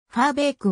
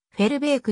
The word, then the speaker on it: Verbeek: の登録名はピムファーベークは英語発音でオランダ語発音ではフェルベークになる現役時代は主に